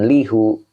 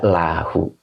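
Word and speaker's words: لَهُ: Nah, itu dibaca jangan lihu. Dibaca lahu. Jadi berat. Menurut kiroatnya berat. Jadi tidak dibaca lihu, kan linya huruf jar nih. Kalau ketemu domir mutasil itu harus dibacanya la, begitu maksudnya. Ya. Kalau ketemu lafadz Allah ya lillahi bukan lallahi ya itu. Tapi kalau ketemu huruf jar, ketemu domir mutasil itu dibacanya li ya. Jadi la tidak li, jadi lahu.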